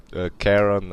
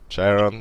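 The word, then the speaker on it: Charon: There are two pronunciations of it. Actually, it's Karen and Sharon.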